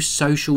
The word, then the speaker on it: So.cl: hi everyone this is from geekanoids and today I'm having a look at the new social networking site from Microsoft now you can find it at all the ws.